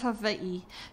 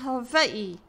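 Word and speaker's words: Hawaiʻi: is how they keep mispronouncing Hawai'i. The W is pronounced like a V. That's the way the Kanaka Maoli, the Kama'aina, the locals pronounce it.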